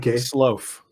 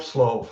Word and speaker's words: Slooff: Similarly, my last name, the double O in Dutch, is always sounds like an O. So if I spell it S-L-O-A-F, then it comes out pretty well with the English-speaking people.